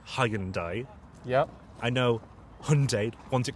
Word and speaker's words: Hyundai: the car brand hyai I think it's supposed to be Hyundai is that really a Hundai it's h h hund